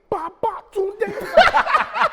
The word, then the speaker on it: Babatunde: And with each syllable, Babatunde.